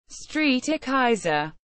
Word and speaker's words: Strijkijzer: head strike Dutch pronunciation Street e Kaiser the flat iron is a residential and office